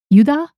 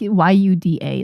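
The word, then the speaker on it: ユダ: So, it's uh just it's like y u da. It's like yuda. So, um, it's it's different. It's not Judas or Judas or, yeah, you don't pronounce the J or the S in Japanese for some reason.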